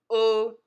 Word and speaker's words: O: the English alphabet Oh it is pronounced as in the letter o in the English word open say it with me oh oh oh oh as in open the